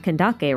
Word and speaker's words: Candace: But the same can be said for both Dia and Candace, whose names are more widely pronounced as Dahaya and Kandake, respectively.